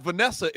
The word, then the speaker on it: Vanessa: But there's two N's. It's not Vanessa. It's Vanessa.